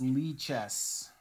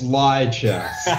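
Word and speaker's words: Lichess: And Alexi's saying, "Hey, pronounce it correctly. It's Lee chess." Yeah, when I play, it's lie chess.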